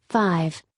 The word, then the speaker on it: V: The album would be titled V, pronounced 5, the Roman numeral for 5, a reference to the project to be the band's fifth studio album.